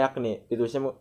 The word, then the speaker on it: yakni: Berarti tapi dibacanya yakni, ditulisnya jakni gitu, guys.